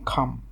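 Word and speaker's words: calm: যদিও আমরা উপমহাদেশে এটাকে কল এবং কাম বলি, কিন্তু এটার শুদ্ধ উচ্চারণ হচ্ছে খল এবং খাম।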